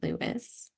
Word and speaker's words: Lewis: What about Louis Hamilton? You know him? I know it's Lewis.